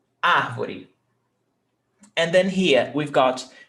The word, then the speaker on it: árvore: Árvore, 3 syllables. Ar, vo, re. Árvore. Ar tem acento. Is the stressed syllable. Árvore. You don't say arvore. No, arvoré.